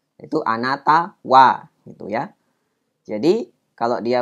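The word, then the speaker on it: は: Kalau dia bersebelahan dengan kata-kata tadi itu ada hiragana ha, nah itu pasti dibacanya sebagai partikel wa ya.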